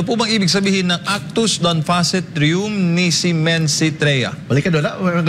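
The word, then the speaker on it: actus non facit reum: si men trea balikan maganda balikan mo daw Maganda yung pagpronounce mo mahirap e ito legal Maxim na actus non facit rum Tama ba yun Tama rum nisi mens se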